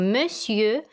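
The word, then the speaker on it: monsieur: обращения господин или госпожа так господин звучит по-французски как у миссию пишутся это слово совершенно не так как произносится или же мадам госпожа ранее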